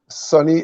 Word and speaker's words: Sonny: you know and though my name is spelled s-o-n-n-y sunny s-u-n-n-y sunny days ahead is